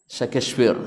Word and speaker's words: Shakespeare: Syekh The First cowoknya Enggak ah DC kefir bacanya Yang benar Shakespeare gitu ya Nah seorang penyair Pujangga Amerika kenapa